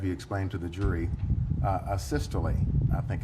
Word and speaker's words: asystole: Asystole, I think it's called. Am I pronouncing that right, by the way? Asystole, yeah. Yes. Would you spell that for ladies and gentlemen of the jury?